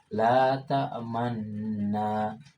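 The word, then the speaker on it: لا تأمنا: Nah, jadi pada lafaz ta'manna, la ta'manna, harus dimoncongkan bibirnya menyerupai bibir ketika membaca dhammah, harokat dhammah atau vokal u. Namun tidak dibunyikan u-nya. Cukup dimoncongkan saja. La ta'manna, la ta'manna.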